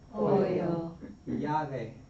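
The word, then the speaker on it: llave: When you see it together, though, it's really going to be pronounced like a Y, a Y sound. So po yave yave yubia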